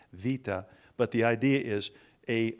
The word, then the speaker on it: beta: looks like a bee we say beta it's pronounced Vita but the idea is